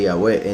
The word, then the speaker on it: Yahweh: Nos damos cuenta que los escribas se metieron y pusieron puntos de vocal en las escrituras, en puntos de vocal para darle una pronunciación diferente al nombre Yahweh.